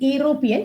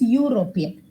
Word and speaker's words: European: we don't pronounce it European it's European so again that yah sound is coming hence you're writing a